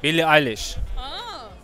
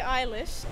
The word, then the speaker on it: Eilish: how are you i'm super fine eilish english billy eilish yes sir billy eilish really eyeless nice see you were scared billy ellis billy eilish nice mark zuckerberg mark zuckerberg